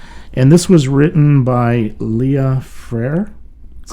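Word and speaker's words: Léa Freire: if i'm correct and this was written by leah freyr that's right correct good pronunciation uh brazilian flattest and composer but it's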